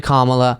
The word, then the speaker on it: Kamala: saying camera camera and it's actually Kamala I'm not saying this